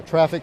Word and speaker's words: Traefik: How do you spell it? Yeah, Traffic spelled Traefik.